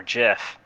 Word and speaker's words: GIF: Oh, How do you pronounce GIF or GIF? No, it's GIF.